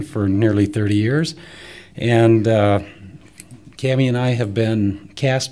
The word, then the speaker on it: Cami: our show thank you hi I'm Scott Hendricks it's spelled H i n RI CHS and I'm cami it's about C Am I we live